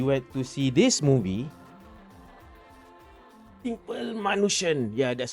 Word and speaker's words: Simple Manushan: Eve right we went to see this movie simple manushan yeah that's how you say it and this